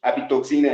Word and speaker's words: apitoxina: Apitoxin in English, apitoxina in Spanish.